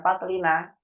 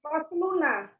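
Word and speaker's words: فصلنا: Bukan faslina. Apa tuh? Asalnya faslun bersambung dengan kata nahnu. Jadi apa tuh? Faslun sama dengan nahnu. Fasluna. Nah, itu dia Ibu. Fasluna. Tadi bacanya faslina.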